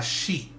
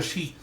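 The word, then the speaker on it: 四: El número 4 se pronuncia, bueno, no, o sea, hay varias pronunciaciones, pero una de las pronunciaciones del kanji del 4 es la palabra shi. Ajá. Bueno, el sonido shi.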